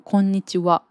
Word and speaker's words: こんにちは: でもこんにちは。なら WA A ので発音するし、私はっていうアイアム